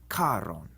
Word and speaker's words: Charon: Instead, in Latin, the CH is like a C with a breath of air after it, like the CH in character. So it's charon.